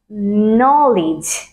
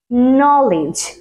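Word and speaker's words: knowledge: so this is knock তারপর আছে আমাদের জন্য নলেজ নলেজ যার মানে কি জ্ঞান এটার সঠিক উচ্চারণটা কি হবে নো লেজ নলেজ নলেজ আর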